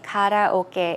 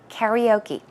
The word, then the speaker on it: karaoke: music so once again although we say kataoka in the Korean or the Korean way Americans will say karaoke we'll take a look